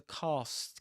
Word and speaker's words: cast: Press the cross button to cast. Cast. Yep. Cast. Just like car or pass.